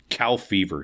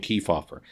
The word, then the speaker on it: Kefauver: Truman deliberately mispronounced his name. Cow fever, he called him. America disagreed, though. They were watching, glued to their sets, watching Kefauver, thanks to a new medium.